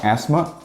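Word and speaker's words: asthma: só que na verdade o th é mudo nelas a gente não fala como essas palavras aqui que basicamente você ignora a existência desse th e só fala asma e estima-se mas agora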